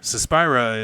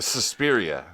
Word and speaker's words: Suspiria: So what they do, well, and I think, yeah, Suspira is and I might be pronouncing that wrong, is based on, that's a old Italian horror okay. movie. Suspiria.